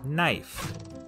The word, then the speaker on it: knife: A good example of this change is in the word knife. In Middle English, it was pronounced knief, but after the vowel shift, the K became silent and the E turned to the diphthong I.